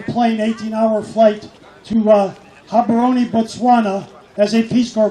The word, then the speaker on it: Gaborone: Living in Gaborone is the pronunciation of the capital.